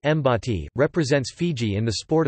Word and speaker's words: Bati: The Fiji National Rugby League team, nicknamed the Batty, pronounced Mbati, represents Fiji in the sport of rugby league football and has been participating in international competition since 1992.